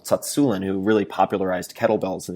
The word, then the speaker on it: Tsatsouline: Starting Strength, or for simplicity's sake, I think a lot of the protocols that Pavel Tsatsouline, some people say his name Tsatsoulin, but it's Pavel Tsatsouline who really popularized kettlebells in the United States.